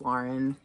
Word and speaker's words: Lauren: then i sold a polo ralph lauren lauren it's lauren i've learned that later in life and that's how i would pronounce lauren but everybody called it loren anyway polo ralph lauren